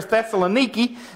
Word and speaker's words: Thessaloniki: That's Thessalonica or Thessaloniki, depends on how you pronounce it.